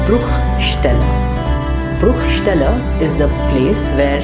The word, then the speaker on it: Bruchstelle: It's Eierschalen soll Bruchstellen verursachen.